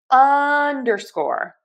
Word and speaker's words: underscore: So, we are going to stress the short u here. underscore unerscore underscore underscore underscore stress syllable number one and then secondary stress on syllable number three underscore underscore underscore underscore